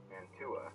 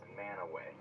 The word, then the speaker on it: Mantua: Normal person might say Mantua, right? Wrong. Mantua. Utahns are super weird, and they pronounce that word right there as Manaway.